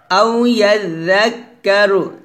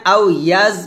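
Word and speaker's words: أو يذكر: يدريك لعله يزكى তারপর আও ইয়াযাক্কারু এখানে আও ইয়াজ বলা যাবে না অর্থাৎ জাল যখন উচ্চারণ করবেন জিহ্বাটা উপরে দাঁতে আগে লাগাবেন নিচে লাগাবেন না আও ইয়াযাক্কারু ফাতান গুণ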